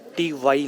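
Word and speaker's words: T'way: इन लोग एयरलाइंस का नाम को प्रोनाउंस कर रहे हैं टी TY, इंग्लिश में टीवी लिखा है, मुझे लगा टीवी बोलते होंगे बट TY हम लोग प्रोनाउंस कर रहे हैं।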